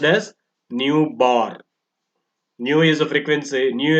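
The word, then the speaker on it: ν̄: is a symbol for newborn and it is pronounced as new bar new is a frequency new is a symbol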